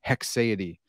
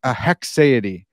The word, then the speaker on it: haecceity: So it's a Haecceity. It's not that hard. It's close. Maybe I'm, but at least I'm not saying Haecceity, right?